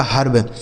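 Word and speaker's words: herb: आर से र और बी से ब यह लिखा आपका हर्ब। एच ई आर वी हर्ब।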